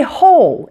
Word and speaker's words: whole: you how to say whole in English I've heard this word mispronounced a few times it's really not too hard though once you're familiar with a couple of things the W is silent this word is pronounced